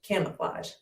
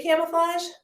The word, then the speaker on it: camouflage: camo flaws full yeah imagining f and l and then the a kind of makes an aw sound camo full ah it's